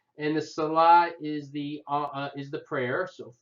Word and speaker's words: Salat: Number 2 is the salah. You don't pronounce the T at the end. And the salah is the prayer.